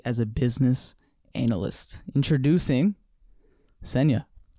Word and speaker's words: Senya: Introducing Senya. Rhymes with Kenya.